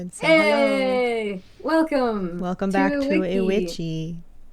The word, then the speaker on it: IWICCI: Welcome back to Witchi or Damn it Witchi. You're right. I just like Wiki.